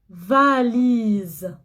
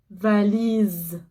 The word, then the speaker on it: valise: Ici, je prononce le S Z, comme Z. La valise. La valise.